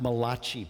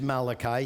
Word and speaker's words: Malachi: go to Malachi 3 some people pronounce that mulashi probably people of Italian ancestry and it's Malachi he was one of